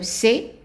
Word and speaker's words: c'est: Now, A is pronounced just as an A, so meaning that the S is silent and the T is silent, and we pronounce it just A. So, c'est, and then passé, passé, passé.